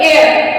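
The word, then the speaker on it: heir: A sorry H ई आई आर एयर मतलब एयर यहां पे हेयर ो एयर मतलब उत्तराधिकारी यहां पे भी एच साइलेंट है तो अब हमने एच का उच्चारण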